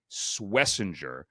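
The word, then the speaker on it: Schwesinger: It's Swiss Iner. Imagine if you do it phonetically a jerr at the end. Swissinger and he's a former walk-on.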